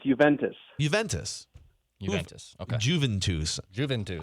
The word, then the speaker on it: Juventus: What is the right way to pronounce it? It's Juventus.